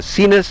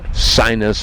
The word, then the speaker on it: Sinus: virus in the back I know those names don't sound like they're pronounced that way but that's how they want said because Americans have an attitude about sinus and virus so cenus and virus it is yes and that